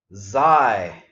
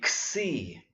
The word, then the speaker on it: xi: If you went to college with fraternities, you're probably used to saying xi, but it's actually xi, and we're going to run into that several more times.